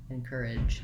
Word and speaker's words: encourage: voice is on j encourage encourage one way to do that is to hold that vowel a little longer before your sound so in courage i have the length on my second stressed syllable once i can say